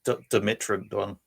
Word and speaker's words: Dimetrodon: The way we would say it was Dimetrodon.